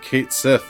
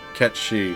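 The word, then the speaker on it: Cait Sith: Mostly excited about Kate Sith, or Ket Shi, whatever you want to pronounce it as.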